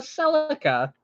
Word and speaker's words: Celica: Like for example, the Toyota Celica. It's a Celica. It's not a Celica. It was called a Celica in Japan, so that's why we pronounce it Celica here.